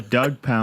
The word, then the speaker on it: Douggpound: It's DJ Douggpound.